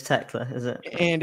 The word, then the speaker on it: Thekla: The name Teela is pronounced Techla. It's Techla, is it?